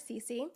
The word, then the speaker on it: Sisi: People do struggle to pronounce that. And realizing S-I-S-I is not commonly pronounced Sisi, I understand how that could be a little tough. Okay. However, it is average Cece.